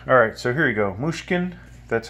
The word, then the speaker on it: Mushkin: protect this decorate alright so here you go muskan that's how you say it helix and it's